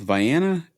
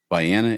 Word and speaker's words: Vienna: I'm going to go with Vienna, Illinois, and I intentionally pronounced the S silent."